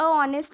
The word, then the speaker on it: honest: साथ हम कभी भी ये नहीं लगाते अ ऑनेस्ट मैन, वी यूज एन ऑनेस्ट मैन.